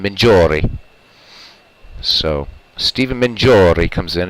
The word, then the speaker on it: Mingori: Because I've heard it pronounced both ways. Anglicized be Mingori. But Italian, it's Mingiori. So I'm going to go with Mingiori.